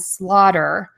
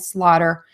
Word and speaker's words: slaughter: my microphone, to understand why we say daughter with a D and slaughter with a D. So again, daughter and slaughter are pronounced with a variation of the T sound, which sounds like a D.